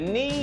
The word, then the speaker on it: knee: Oh, you meant knee. Knee with a silent K.